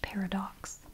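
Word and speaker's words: Paradoxe: her fantastic little commercial this is pronounced Paradox she said paradox paradox I'm going to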